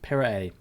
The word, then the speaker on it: Pirae: Pirae. So basically what I was saying, but just without... It's 3 syllables. Pirae, not Pirae, like I was saying.